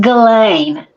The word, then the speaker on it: Ghislaine: It's pronounced Ghislaine.